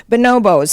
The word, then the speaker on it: bonobo: I thought the way you said bonobo was charming, and the English tend to use it that way, so it just makes you sound exotic. I think most Americans say bonobo, so I've adapted myself to that.